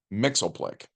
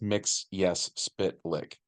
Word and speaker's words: Mxyzptlk: kid we called him Mixel Plick by the way but Superman the animated series taught us to say it as mix yes spit lick so that's the pronunciation